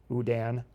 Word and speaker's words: Houdin: interrupt no you're good no not Houdini Udan the French magician from whom Houdini borrowed